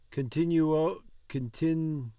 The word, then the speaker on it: continuo: E così continuo. That's like nuoto. Nuo. Continuo.